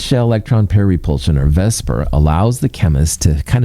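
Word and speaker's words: VSEPR: Let's call it vesper because that's a lot easier to say.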